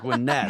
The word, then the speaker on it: Gwinnett: Am I pronouncing that right? Gwinnett County. Gwinnett. Come on, Michael. Okay. Even I knew that. All right. Gwinnett.